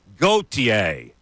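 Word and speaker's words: Gauthier: drives me kind of nuts too when you mispronounce a guy all right how do you say his last name gotier all right so cutter does not deserve my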